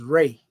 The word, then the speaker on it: Ra: Ray is the ancient Comedian entity of the sun, also known as Ra, pronounced Ra.